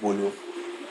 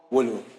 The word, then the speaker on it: Wolo: And at the time, I wasn't in school, so I had to be on an online platform called Wolo, where Called Wolo.